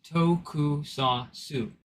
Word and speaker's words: tokusatsu: Alright, so quick trivia facts about what in the Sam Hill a got-darned tokusatsu, pronounced tokusatsu.